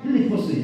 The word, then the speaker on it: 필리포스: 알렉산더 대왕의 아버지 빌립보스죠. 빌립보스잖아요. 필리포스 정확하게 발음하면 필리포스 2세의 이름을 따서 지은 집.